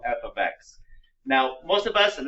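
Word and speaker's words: f(x): and it's pronounced a very specific way it's pronounced and you'll write it down here f of x the f stands for a function which is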